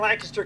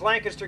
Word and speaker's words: Lancaster: reminded everybody there that we have a Lancaster County, Pennsylvania. We pronounce it the same way. And the reason we do is because Lancaster County, South Carolina, was